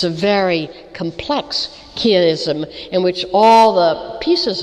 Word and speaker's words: chiasm: And I don't know if we pronounce it the same in British English, but it's chiasm.